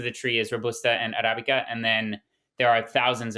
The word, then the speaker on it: Arabica: guys focus on the what's called Arabica or Arabica. I'm not exactly sure if I'm saying that right, but is that correct? Yeah, they're both fine pronunciations.